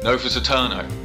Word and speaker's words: Novus AEternes: with Nick from taytale Studios to talk about novious Ed Turners is it ano Novus eterno that's how it's pronounced I have um tell us a bit